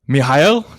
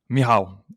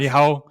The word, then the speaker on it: Michal: Mihail, did I pronounce that right? Please do correct It's me if I it's didn't. Mihail. it's Michal. Mihao. Sorry. Yes. Mihao, Yeah.